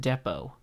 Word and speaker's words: depot: That's, guys, what are you guys, it's pronounced depot. Like, hey, we need to go raid that munitions depot.